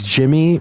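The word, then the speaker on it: Djimmy: I like how it's I like how it's Jimmy but it's spelled like Jin with the D whoa come on come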